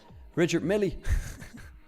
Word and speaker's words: Richard Mille: Titobi says Richard Mille. Yeah. Some watches. Or like Americans say, Richard Millie.